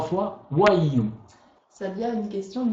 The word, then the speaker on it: WAIU: Donc le code d'activation se prononce WAIU. WAIU.